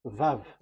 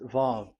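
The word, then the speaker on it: ו: So it's V as in Vogue. So it's really V. How to read Vogue? So the word, the shape Vav is really pronounced V, like Vogue. That is it, pronunciation. So here in this side, it's pronunciation. This is pronunciation. So according to the old Hebrew word today, those who the owner of the words, I mean, so it's a V. So don't change it into W, and you will say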